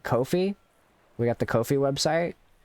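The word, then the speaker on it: Ko-fi: website just instead of calling it Kofi which technically you can pronounce it as coffee um just call it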